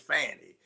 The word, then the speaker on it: Fani: Fani is pronounced Fanny.